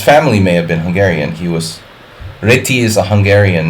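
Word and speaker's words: Réti: Hungarian pronunciation is really reti.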